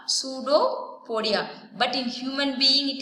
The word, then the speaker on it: pseudopodia: Pseudopodia, here P is silent, right? So you need to tell only pseudopodia.